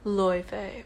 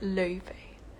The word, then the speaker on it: Laufey: But name pronunciation, it's pronounced Laufey or Laufey.